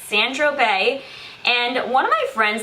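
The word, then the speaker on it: Saint-Tropez: next i finished up san tropez i always want to say san tropez but that's not how you say it it's sandro bay and one of my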